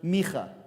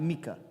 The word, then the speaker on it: Micha: It's pronounced Micha, not Micah.